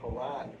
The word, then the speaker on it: Karan: I just actually found out that the name is actually pronounced Karan Phillips.